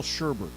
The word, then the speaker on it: sherbet: How do you spell sherbet? S-H-E-R-B-E-T. S-H-E-R-B-E-T. Yeah, but there's no R. Why do we pronounce... I pronounce it sherbet, and it's spelled sherbet.